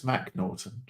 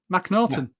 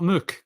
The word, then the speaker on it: McNorton: mcnorton ma no it's mcnorton mcnorton that's what I said you you had a in it no Mac Mac Norton that's better it's not Muk because it's got an A in it mnon